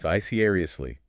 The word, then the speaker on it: vicariously: Vicariously. Another 5-syllable word. Stress on the second syllable.